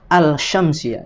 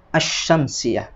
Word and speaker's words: as-syamsiyah: dari kata-kata ar-rahman ar-rahim karena tidak mungkin dibaca al-syamsiyah ya tetapi dibacanya as-syamsiyah lalu kemudian Kenapa Qomariyah bulan